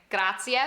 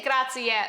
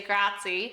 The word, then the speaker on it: grazie: Grazie. Make sure we say grazie, by the way. A lot of Americans will say grazie.